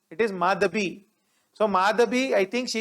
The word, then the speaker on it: Madhabi: right please remember the name it is not madavi it is madhabi so madhabi i think she is from west